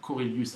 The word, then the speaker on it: Korelius: Vous pouvez m'envoyer un petit mail à Corelius. Alors Corelius, ça s'écrit Korelius.